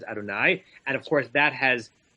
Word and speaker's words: Adonai: the notion that that Jews pronounce that word as Adonai and of course that